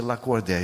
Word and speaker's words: Lacordaire: E meu nome escreve Lacordaire, pronuncia Lacordé. Eu não sabia disso.